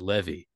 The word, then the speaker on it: Levy: Well, let me tell you, I pronounce it Levy.